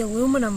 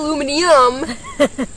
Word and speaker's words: aluminum: What is the aluminum for? Okay, so the aluminum is to protect... Wait, how did you say that? Aluminum. Aluminum! Not aluminium.